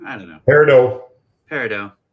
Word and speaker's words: Peridot: Peridot. It's like bread. Got it. It's like French. Dough.